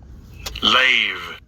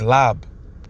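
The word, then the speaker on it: לב: Lave. He's tripping. It's lab. Okay, that's the proper way to say that in the Paleo Hebrew.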